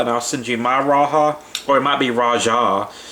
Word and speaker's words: Rajah: I'll send you my Rajah, or it might be Rajah. I say Rajah because down here in the South, Spanish is pretty prevalent, so I'm used to pronouncing the J as a H, but it's probably Rajah